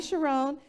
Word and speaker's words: Chiron: Bugatti Chiron, right? Am I pronouncing that correct? Yes, Bugatti Chiron, and it gets up to, do you know how many miles per hour?